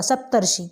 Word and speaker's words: सप्तर्षि: और उच्चारण देखिए, सप्त ऋषि, सप्त ऋषि, मीसियन कहने का मतलब जो है र जो है उसका उच्चारण पहले होगा, सप्तर्षि।